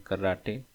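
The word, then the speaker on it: karate: Third देखेंगे तो इसमें कराटे इसमें भी ई साइलेंट नहीं है।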